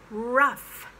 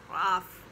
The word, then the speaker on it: rough: tough and same with rough rough it's not worth ruff ruff the gh has become an f sound in english uh just for those words